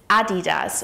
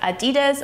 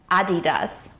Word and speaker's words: Adidas: So the correct pronunciation is Adidas, with the emphasis on the first syllable. So it's not Adidas or Adidas, but Adidas.